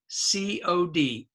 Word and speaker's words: cod: English we say card now it's a but it's spelled with an o c o d Cod and in America